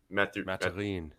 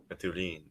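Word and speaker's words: Mathurin: Matherin. Matherin.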